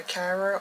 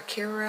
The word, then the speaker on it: Kira: from the company called just for Cara or Kira however you want to pronounce it I've heard it pronounced both ways but I'm going to